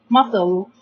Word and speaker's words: muscle: Okay, here C make S and C make the sounds. So we have muscle.